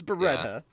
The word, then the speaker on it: Beretta: The So, name is Beretta.